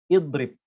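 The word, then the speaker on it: اضرب: Contohnya ini kita baca dengan idrib, menggunakan kasroh ya, idrib. Tapi ketika kita membacanya di tengah, ya, di pertengahan kalimat, maka kita hilangkan hamzah wasal, tidak dibaca.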